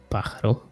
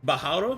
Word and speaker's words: pájaro: Pájaro. Oh. Is Right. that not how it says? How do you pronounce it? Carlos? Pájaro. Bajaro?